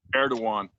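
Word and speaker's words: Erdoğan: Erdogan. Erdogan, okay, because it's spelled Eroagon, Eroagon or something like that.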